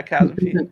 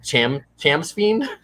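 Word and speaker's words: Chasmfiend: The Chasm Fiend, is that how you pronounce it? The thing? Yes, yeah, Chasm Fiend.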